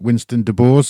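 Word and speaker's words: Winston DuBose: Is it Winston De Boers? Is that how you pronounce his surname?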